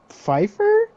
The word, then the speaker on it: Pfeiffer: with the stitched up suit okay uh Michelle Pfeiffer oh it is Pfeiffer yeah yeah her who did she play uh